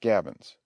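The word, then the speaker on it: gabions: forms a complete breastwork the word is pronounced gavins the fashions pronounced fashions are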